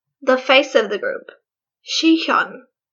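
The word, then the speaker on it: Sihyeon: face of the group she Sean let me just check if that's how you pronounce her name her name is pronounced she Kelin that was right okay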